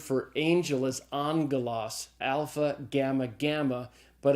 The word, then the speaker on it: alpha: first Greek letter is the letter alpha it's pronounced like in the a sound in the English father so alpha is as in father second letter is the